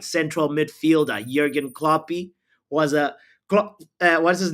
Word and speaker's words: Klopp: Steffi says, who cares about Klopp? It rhymes with flop.